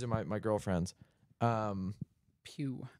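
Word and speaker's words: Pugh: they're like oh Florence Pew is so hot these are my my girlfriends um Pew I always pronounce it P P Florence p p p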